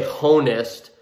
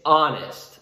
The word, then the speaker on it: honest: a is correct however honest is pronounced without the h we don't say honest it's honest so it's almost like